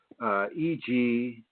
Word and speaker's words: egregore: It's spelled E-G-R-E-G-O-R-E, egregore.